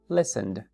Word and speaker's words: listened: What's the last Sound Listen Okay The Last Sound is does vibrate Or Not it does right it vibrates so number one two or number one okay si vibra number one por lo tanto el pasado sería listened listened right and Finally